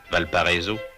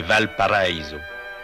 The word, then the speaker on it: Valparaíso: que l'on prononce affreusement à la française, Valparaiso, c'est Valparaíso, la vallée paradis.